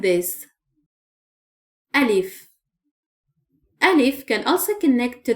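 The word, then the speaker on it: ألف: The first Arabic letter is Alif. Alif. Just draw a vertical line like this. Alif.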